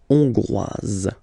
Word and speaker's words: hongroise: Okay, so here final S not pronounced for the masculine form, and then you pronounce it here for the feminine form. Hongrois, hongroise.